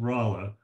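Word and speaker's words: Rolla: moved to the Western frontier around what's called rala Missouri it's spelled r o l l a but it's pronounced rala he became functionally uh literate there I don't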